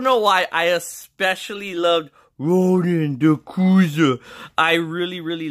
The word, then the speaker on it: Ronan: It's pronounced Ronan.